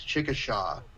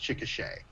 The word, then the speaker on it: Chickasha: K SH a which some people pronounce as Chickasaw it's actually pronounced Chickasha mmm okay interest uh